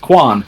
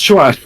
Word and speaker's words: Quan: Like some are more incorrect than others, such as like how's Quan pronounced? Quan? No, it's not. That's not how it's pronounced. Chuan. Chuan.